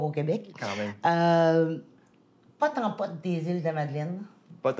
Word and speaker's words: pot en pot: Québec quand même euh pote en pote des îles de Madeline pote en pote c'est dans ça s'écrit peau en peau peau de fleur mais ça se prononce Po en pote des îles nécessairement